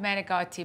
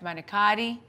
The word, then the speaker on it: manicotti: making the stuffing see I say stuffed metagati but I guess the American way to say is Steph manicotti I only know how to say it my way stuff I'm going to